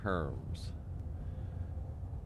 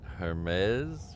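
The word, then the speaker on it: Hermès: just learned Christine that I was pronouncing that completely wrong every time I saw it at the mall I thought it was Herms brother I didn't realize it had a a different pronunciation I thought it was Herms it's Hermes or something I don't know it's it's weird pronunciation yeah as I suspected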